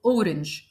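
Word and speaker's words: hour: التعريف ا والمثال عندنا اشهر ثلاث امثله اور اونر اونست بالرغم ان الثلاث كلمات بيبتدوا بحرف الاتش وهو حرف ساكن الى انه لانه سايلنت احنا نطقنا تاني حرف الاو فبالتالي بقت اور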